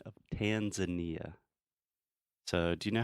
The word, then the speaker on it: Tanzania: in Kenya and Tanzania Tanzania just almost like Portuguese Tanzania Tanzania it's not even close though how do you say this in English Tanzania Tanzania it's not even close at all remember we're not talking